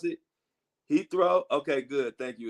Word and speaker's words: Heathrow: How do you pronounce it? Heathrow?